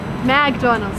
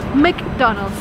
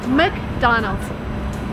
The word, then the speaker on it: McDonald's: It's not McDonald's, or McDonald's. It's McDonald's. It's very funny. So McDonald's, and that's the restaurant.